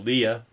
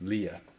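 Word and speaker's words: Liath: this is my girl Leah spelled l i a t h and that's uh gelic for gray but it's pronounced Leah and she's my girl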